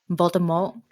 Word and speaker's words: Voldemort: bella stays faithful to voldemort actually jk rowling pronounced it in the french way voldemort silenty joe can pronounce